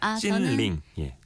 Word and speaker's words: 찐링: 찐링 중국어 발음이 찐링. 다른 거예요? 1성 2성 찐링이에요.